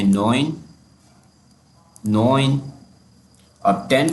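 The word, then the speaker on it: neun: कहते हैं आफ्त एट को कहते हैं हफ्त नाइन को कहते हैं नोइन नोइन और 10 को कहते हैं ज़हन अच्छा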